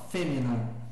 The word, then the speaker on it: femina: Então, olha lá, eu não vou ler femina, né? Veja que a sílaba, a penúltima é breve, né? Termina em vogal breve. Então, femina. No outro caso, eu não vou ler improbos.